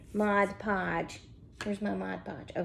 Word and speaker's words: Mod Podge: mod podge look at me saying it right mod podge where's my mod podge oh here it is